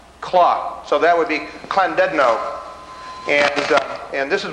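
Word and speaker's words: Llandudno: little l that in in in welsh that's pronounced as a kl claw so that would be clandedino and uh and this is one of the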